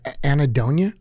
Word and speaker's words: anhedonia: And that word again was anhedonia?